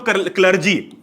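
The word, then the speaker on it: clergy: ज्यादा नहीं लगाना है, हमें अगर प्रोनाउंसिएशन याद नहीं हो रहा तो सिंपल याद रख लो, क्लर्जी। ठीक है, क्लर्जी याद रख लो, या फिर क्लरी बोलते हैं वैसे तो।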